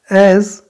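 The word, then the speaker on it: edge: एज, ई डी जी, एज।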